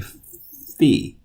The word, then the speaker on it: phi: You may have heard this pronounced phi, but in Greek we say phi.